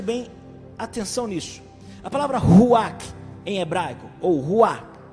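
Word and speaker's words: רוח: É impressionante que você não consegue pronunciar a palavra ruach sem soprar. Pode tentar. Ruach, você pronuncia soprando.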